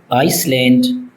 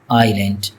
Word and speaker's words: island: Many people mispronounced it as Iceland but the fact is it is island. Again that s is not pronounced in this word.